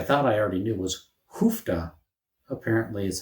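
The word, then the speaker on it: uff da: I'd always heard it as oofda when people say it, but maybe I had bad hearing, or maybe it's regional how you pronounce that word. Do some people say oofda and some people say hoofda? Maybe it's a Swedish Norwegian thing.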